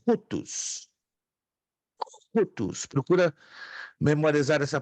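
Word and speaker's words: οὗτος: Então é rutus. Rutus. Procura memorizar essa pronúncia.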